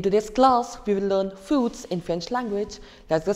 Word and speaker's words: fruit: In English, it's fruits, and in French, it's fruit.